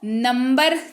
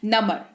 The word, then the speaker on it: number: बढ़ते हैं आगे और आगे समझते हैं NUMBER, इसको नंबर नहीं पढ़ेंगे। जी हाँ, अगर अभी तक नंबर पढ़ते आ रहे थे तो वो गलत है, क्योंकि यहाँ पर साइलेंट लेटर बी यहाँ पर भी काम करेगा, और इसका जो है वो बी जो है वो बस हल्का सा हवा के झोंके जैसा होगा यहाँ पर, ठीक है। नमर, इसको पढ़ते हैं नमर, मतलब आपने क्या किया,